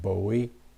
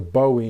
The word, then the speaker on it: Bowie: really highly respect like jim bowie or bowie however you want to pronounce it the bowie knife is how i always said it got a few